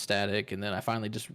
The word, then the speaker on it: JuztStaTic: heard a lot of people pronounce my name wrong they'll be like just tastic or something like that so like